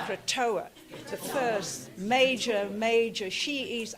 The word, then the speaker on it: Krotoa: Say after me, Krotoa. Krotoa. Krotoa.